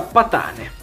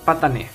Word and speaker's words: Patanè: Disegnato da Alessandra Alaia Patane. Patanè, scusate, c'è l'accento.